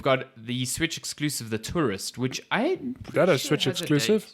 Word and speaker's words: Touryst: It's spelled TourYst. ST, yeah. I do believe that's tourist.